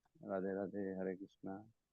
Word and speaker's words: कृष्ण: सटीक उच्चारण तो कृष्ण है, कृष्ण ऐसा है।